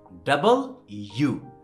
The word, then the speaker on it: W: হ্যাঁ, ওকে, and then এটার উচ্চারণ আমরা ভুল করি, আমরা বলি ডাব্লু, কি বলি মিল্টন কি বলছিল, ডাব্লু, ডাব্লু, হ্যাঁ এটা ডাব্লু না, এটা খুব সহজ, সেটা হচ্ছে কি ডাবল ইউ, ডাবল মানে কি দ্বিগুণ না, ওই ডাবল, দুই